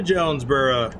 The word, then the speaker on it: Jonesboro: Welcome to Jonesboro. And that's how they say it here. I would pronounce it Jonesboro.